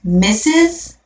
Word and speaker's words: Mrs: last name misses the Mrs that's pronounced missus and you use that only for a married woman okay only married women you refer to as mrs.